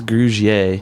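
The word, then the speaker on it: Grugier-Hill: I think it's Grugier.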